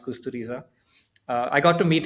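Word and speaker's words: Kusturica: Uh so I've been saying Emir Costa Rica for many years but I realized it's pronounced Kusteriza.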